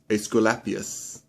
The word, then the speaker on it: Aesculapius: It is Gundam Aesculapius.